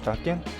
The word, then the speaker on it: Tankian: Serge Tankian?